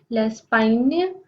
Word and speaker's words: Espagne: The next country is Spain and it is pronounced as l'Espagne.